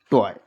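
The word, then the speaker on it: toy: जैसे जी ओ वाई जॉय बी ओ वाई बॉय एल ओ वाई L loyal T ओ वाई टॉय।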